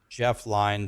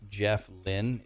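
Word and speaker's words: Jeff Lynne: there you were there but no Jeff is Jeff line Tom Petty Bob Dylan Roy Orbison and George Harrison right I just killed Rock and ISU cacw it's pronounced Jeff Lynn is it pronounced that way are you sure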